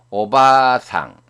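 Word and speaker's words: お婆さん: 바도 마찬가지로 앞에 있는 바를 길게 발음합니다. 오바상.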